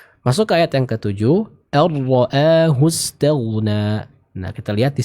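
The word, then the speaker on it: أن رآه: Huruf nun dimasukkan ke huruf ra. Jadi seolah-olah huruf nunnya hilang karena langsung dimasukkan ke makhraj dari huruf ra ya. Contoh ar-ra'a. Jadi bukan an-ra'a tapi ar-ra'a. Ar-ra'a. Kenapa diidghamkan? Karena sebab idgham adalah makhraj yang berdekatan ya. Karena makhraj dari huruf nun dan ra ini berdekatan, maka bacaannya diidghamkan ya, diidghamkan.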